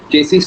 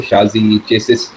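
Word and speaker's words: chassis: वो पार्ट्स जो है चेसिस से जुड़ते होंगे। जैसे शासिस चेसी अलग-अलग तरीके प्रोनाउंस करा जाता है।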